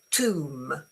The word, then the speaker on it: tomb: You pronounce it tomb. tomb with a nice long as in uh soon. Okay, it's the same sound. Soon um gloom. Uh room. Okay. Tomb. The B is totally silent.